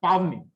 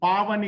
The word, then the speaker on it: Pavani: Everybody pronounced her name as Pavni. Letter A was missing. Pavani, it's a beautiful name.